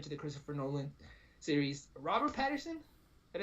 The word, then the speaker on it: Robert Pattinson: Robert Pattinson.